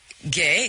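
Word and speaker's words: Gueye: Gay, the name is pronounced Gay, but it's spelled G-U-E-Y-E.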